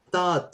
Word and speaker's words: thought: Jadi teach itu verb SAT tapi thought ya verb duanya itu thought. Seperti biasa, GH-nya enggak usah dibaca kalau ada GHT ya.